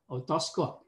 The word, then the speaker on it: otoscope: Nhưng mà cái máy soi tai thì cũng vậy, nhưng mà mình không phát âm là otoscopic mà chúng ta phát âm là otoscope. Otoscope.